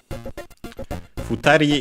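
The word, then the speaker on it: ふたり: Futari ga haitte teru no wa hitori. First we have futari, which means 2 people. Let's check its accent, but should be on the last syllable.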